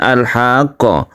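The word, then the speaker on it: الحاقة: ditasditkan ke ha kemudian alhaqqo Ha ini panjangnya tiga Alif dia disertai dengan tasdid kita panjangkan dulu baru kita tasydidkan ini yang disebut dengan mad lazim muthawal atau mad lazim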